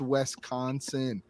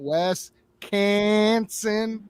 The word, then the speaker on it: Wisconsin: I I'm like bro it's Wisconsin just read the freaking sound it out bro sound it out westconsin not West Canon like there is no syllable that says k it's funny I wonder